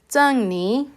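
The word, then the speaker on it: 珍妮: Zhen se escucha realmente como Jen y Ni como ni de la pronunciación en español, ¿verdad?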